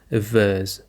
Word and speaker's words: averse: And now another word that we have is a verse. A verse. The stress is on the verse.